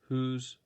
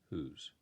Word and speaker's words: whose: ownership whose flowers ownership whose last name will the bride use relationship don't confuse who's with who's these words are pronounced the same way they sound exactly the same who's whose but WH o apostrophe